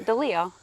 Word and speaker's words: DeLeo: sure I'll tell them what is it actually the Leo like it spoke like it should be yeah how's your day